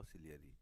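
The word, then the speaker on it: ciliary: ठीक है, अब देखिए जो सिलेरी ग्लैंड्स, सिलेरी बोलते हैं उसको, इनका उच्चारण होगा सिलेरी।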